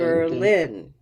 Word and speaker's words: Berlin: So the rise in tone tells me your mind thinks it's first syllable, but your voice tells me it's second syllable. Okay. Berlin. Berlin. But there is a very strong purple sound in that first syllable.